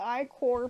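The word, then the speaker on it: ichor: gonna go get more i chords pronounce i cor i'm gonna get i-core pronounced i core first give me some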